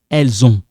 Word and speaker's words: elles ont: Ils ont, this one is silent. Elles ont. So it sounds like zon.